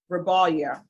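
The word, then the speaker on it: Rebollar: Salada Rabbala. R E B O L L L A R. And I'm sure those L's are supposed to be pronounced with a Y.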